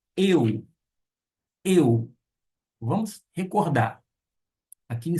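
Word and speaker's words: ευ: Não pronuncia ei, e sim eu.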